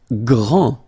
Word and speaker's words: grand: Grand, final D, not pronounced, okay, G-R, gr, gr, gr, and then the nasal, en, grand, okay, and it means big or tall.